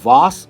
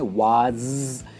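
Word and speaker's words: vase: दोस्तों इसकी वास अगर आप कहोगे तो ये गलत होगा, इसकी प्रोनाउंसिएशन है वाज, एंड में ज साउंड आता है, इट्स वाज एंड नॉट वास।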